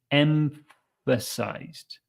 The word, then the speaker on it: emphasized: gap between those sounds try to start with the m and then move your your bottom lip kind of out of the way so you can get to the sound emphasized emphasized EMP it's quite a tricky one but that's the best way I can uh explain it for you to to say it as naturally as possible emphasized okay that it's